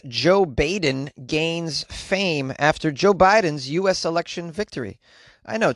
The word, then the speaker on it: Jo Baiden: guess you pronounce it joe biden because the b-a-i is pronounced with a hard eye so it is pronounced joe biden yutaka umeda age 73